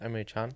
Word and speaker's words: Emre Can: find it's pronounced Emre Can.